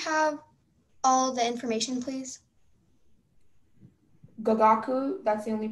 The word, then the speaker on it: gagaku: Gagaku, that's the only pronunciation.